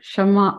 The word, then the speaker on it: Shema: Pronounced Shema, yeah.